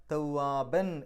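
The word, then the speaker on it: توابا: ഇന്നഹു കാന തവ്വാബൻ എന്നാണ് അവിടെ എഴുത്ത്. പാരായണം നിർത്തുമ്പോൾ തവ്വാബ എന്ന് പറഞ്ഞാൽ നിർത്തുക. കാരണം മദ് അഴിവൽ, തൊട്ട് മുമ്പ് നമ്മൾ അഫ്വാജ പറഞ്ഞ പോലെ ഫത്ഹ് തൻവീനിലാണ് അവസാനിക്കുന്നത്. അതുകൊണ്ട് ഫത്ഹ് ഇട്ടിട്ട് വേണം രണ്ടക്ഷരം നീട്ടാൻ.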